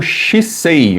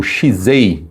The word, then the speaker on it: shisei: E mais outra lição que é o Shisei, ou Shizei, né, depende aí de quem está pronunciando, mas fala sobre a postura correta, né?